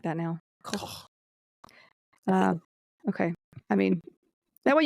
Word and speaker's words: Koch: Koch.